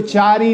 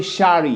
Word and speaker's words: Charie: इसको चारी नहीं पढ़ेंगे, ये शारी है। क्या है ये? समझ आई बात? तो इसको शारी पढ़ेंगे।